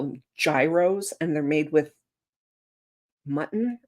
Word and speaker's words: gyro: Oh, it's pronounced gyro.